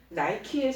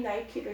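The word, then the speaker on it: Nike: 청소년들도 다 이 나이키를 신고 싶어 하죠. 지금도 제일 비싼 신발 브랜드 이 나이키. 이 나이키는 헬라 니케의 영어식 발음이라는 거죠.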